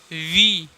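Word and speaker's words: V: वी, इसको पढ़ते हैं वी। इसको बहुत सारे लोग देखे होंगे आप लोग भी कि भी पढ़ते हैं।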